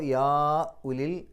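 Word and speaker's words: يَا أُولِي: ഫത്തുളാഹ യാ ഉലി അവിടെ യാ ഉലി അത് യാ എന്നുള്ള ഒരു പദം ഉലി എന്നുള്ളത് മറ്റൊരു പദം ചേർത്തി എഴുതിയിട്ടുണ്ടെങ്കിലും രണ്ടും രണ്ടു പദങ്ങളാണ് അതുകൊണ്ട് മദ്ദും ഹംസയും അടുത്തടുത്ത് വന്നു വ്യത്യസ്ത പദങ്ങളിലാണ് ഒരേ പദത്തിലല്ല അതുകൊണ്ട് നാലോ അഞ്ചോ അക്ഷരങ്ങളുടെ ദൈർഘ്യം നീട്ടാൻ അനുവാദമുണ്ട് നിർബന്ധമില്ല മദ്് മുൻഫസിൽ എന്ന് പറയും അപ്പോ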